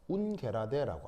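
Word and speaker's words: ungerade: 이 면대칭을 뜻하는 말을 이것을 독일어 운 게라데라고 합니다 영어가 아니고 독일어라서 발음이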